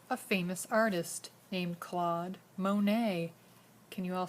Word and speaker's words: Monet: famous artist named claude monet can you all say his name claude monet there's a silent t at the end because he's a french painter let's look at some